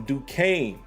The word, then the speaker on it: Duquesne: remember how this school is pronounced i'm gonna spell it d u q u again d-u-q-u-e-s-n-e and i'm openly admitting to you guys